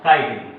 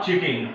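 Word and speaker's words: chitin: इट is called the काइटिन, नॉट चिटिन। Many of students, I have seen many of students, they called it, they pronounce it चिटिन। सो इट इज नॉट चिटिन, इट इज काइटिन, right.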